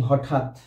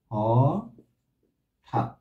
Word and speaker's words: হঠাৎ: খন্ড দিয়ে আমরা লিখি হঠাৎ কি হঠাৎ হঠাৎ বানানে এটা কি হবে বানানে সাধারণত থাকে হঠাৎ এর উচ্চারণ কি হবে হ ঠ আকার ত কিন্তু অবশ্যই হস দিতে হবে হ ঠাৎ থেমে যাচ্ছে